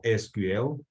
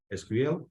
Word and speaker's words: SQL: This word is pronounced either SQL or SQL. It doesn't really matter which one you choose. It's a matter of personal preference.